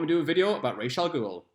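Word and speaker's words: Ra's al Ghul: do a video about racial Google and yes that is the correct way to pronounce it I don't care what the movie says Deathstroke hired a hacker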